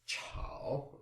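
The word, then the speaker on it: 炒: So the fourth character here is chao, which means to stir fry. That's C-H-A-O, third tone.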